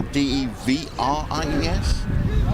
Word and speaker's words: de Vries: And V is actually pronounced with an F in Dutch. So, for example, one of their players is Jelle Erik de Vries. It's spelled with a D-E-V-R-I-E-S, pronounced de Vries.